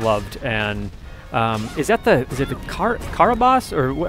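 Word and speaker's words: Carabosse: Is it the Karabas, or how do you pronounce that? Yes, that's okay. Karabas.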